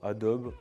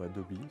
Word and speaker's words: Adobe: C'est forcément Adobe ou Adobe, selon comment vous le prononcez, et DJI.